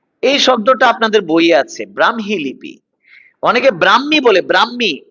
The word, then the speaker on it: ব্রাহ্মী: দেখেন একটু, ব্রাহ্মী, ব্রাহ্মী লিপি, ব্রাহ্মী, এই শব্দটার উচ্চারণ হচ্ছে এটা, ব্রাহ্মী। কখনো ব্রাহ্মী, কখনো ব্রাক্ষী, এরকম বলবেন না, ব্রাহ্মী লিপি, ব্রাহ্মী লিপি নয়, ব্রাহ্মী লিপি। ব্রাহ্মণবাড়িয়া নয়, ব্রাহ্মণবাড়িয়া, ব্রাহ্মণবাড়িয়া, ব্রাহ্মণ নয়, যুক্তবর্ণ ভাঙলে হ ম, উচ্চারণে ম হ, ব্রাহ্মী লিপি, ব্রাহ্মী লিপি, ঠিক আছে।